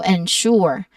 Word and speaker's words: ensure: Pronunciation wise, we focus on ensure, which starts with the syllable N that has a short sound, and then ends with the syllable sure, which has an sh sound. So the stress is on the second syllable, sure. So ensure.